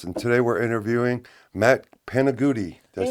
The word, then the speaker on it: Panigutti: And today we're interviewing Matt Panigutti. Did I say it right? Panigutti.